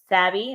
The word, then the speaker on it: Savvy: going to watch this it's Savvy not but you know whatever